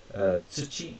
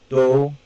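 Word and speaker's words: 土: Now, this here is tsuchi or do, soil, earth, or land.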